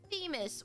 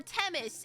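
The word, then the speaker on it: Themis: And I was like, "It's an aspirated t. It's te t teis or whatever." And I am going to continue to pronounce it wrong and make everyone unhappy anyway. So, yay. I'm just going to keep on pronouncing it incorrectly, but I'm going it is Teis Teis.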